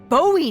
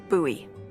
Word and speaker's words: Bowie: And then all of a sudden, with no warning, he pulls out this huge rusty Bowie knife. It's actually pronounced Buoie.